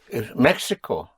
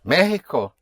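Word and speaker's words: México: Mexico is Mexico. You have an accent over the E. Otherwise it would be Mexico but it is Mexico.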